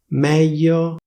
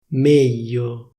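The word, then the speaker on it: meglio: The pronunciation got completely (beep)! sègno, ségno - ségno mèglio méglio - méglio dènte dénte - dénte studènte studénte - studénte preside...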